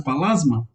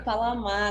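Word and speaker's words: Pallasmaa: mesmo assunto, essa pronúncia, Palasma? Na verdade é Palamá, né? Porque ele é finlandês. Então sim, Juhani tá certo.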